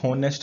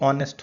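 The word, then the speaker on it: honest: अब जैसे इसको प्रोनाउंसिएशन करोगे, तो ये होनेस्ट नहीं होता है, ये ऑनेस्ट होता है। तो आप इसको लिखोगे ना ऑनेस्ट, तो इसका मतलब इसमें एच साइलेंट होता है और इसको बोला जाता है ऑनेस्ट।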